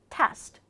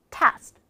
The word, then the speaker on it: test: 1월 1일일 수도 있잖아 이런 식으로 st 끝날 때는 st 발음을 줄여 줘야 됩니다 today 오늘 보호이션 말이야